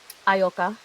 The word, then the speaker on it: Ayoka: Um, how do you pronounce your name? I'm sorry. I don't want to say it wrong. Aayoka. Ayoka.